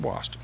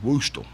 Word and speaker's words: Wastel: I know, boy, and he's in that book, and Wilfred Wastel. Now, everybody, whole life, his name's Woostel. I mean, everybody called him Woostel, but it's pronounced Wastel, according to his wife, Mary Ann, But old Woostel, he